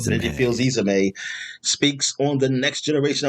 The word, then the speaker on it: Fils-Aimé: Izame. Reggie Fils-Aimé speaks on the next generation of the consoles, and that's, I guess, you're going to start talk about the Wii.